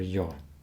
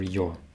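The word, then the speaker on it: ё: doesn't like the letter yo um well very often letter your is spelled just like yeah but it's still letter yo and you should pronounce it like yo i need all right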